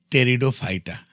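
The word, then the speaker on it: Pteridophyta: फनेरिटिक तीसरा यह है टेरिडोफाइटा देखो यहां पर पी जो है वह साइलेंट है पी को पढ़ा नहीं जाएगा और इसे पढ़ा जाएगा टेरिडोफाइटा टेरिडोफाइटा यह फ्लावरलेस यह पौधे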